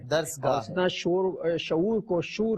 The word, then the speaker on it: درسگاہ: اوندھے کو اوندھے کہا, درسگاہ کو درسگاہ کا, رے جو ہے متحرک نہیں ہے, ساکن ہے. درسگاہ اس طرح شعور کو شور کہا, شور, اور شہپارہ کہہ دیا.